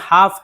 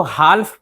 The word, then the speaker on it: half: हो सकता है कि आप हाफ को HALF ये हाफ है इसको हाल्फ पढ़ें और HONOUR ये ऑनर है इसको हॉनर